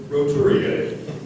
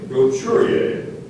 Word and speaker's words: roturier: King Charles I, considers Bill Gates a mere roturier. Are there any alternate pronunciations? Yes, there is one, and it's close, so listen closely. Roturier.